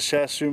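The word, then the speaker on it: Shiatsu: Yeah, but what I did was I used a Shashu massager, that's how you pronounce it, to make the stick go around,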